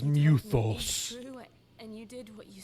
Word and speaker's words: Mythos: okay but they're no they call Clive Mythos but they pronounce as muthos did what you said